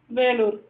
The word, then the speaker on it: Vellore: So Velur, it is in Tamil and in English Vellore. So we have to pronounce it as Velur.